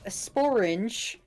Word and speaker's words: sporange: Pint-sized kiwi says sporange is the name for the structure in which spores are produced. Sporange, like Yeah. orange with an SP on the front.